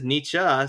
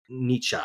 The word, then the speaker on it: Nietzsche: Um, but anyways, uh, I I swear that he said Nichi suicide or Nichi certified and I looked it up and uh, no, he says Nichzche.